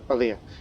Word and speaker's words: Aliyah: Aliyah gives Aliyah, that's how you say her name, Aliyah.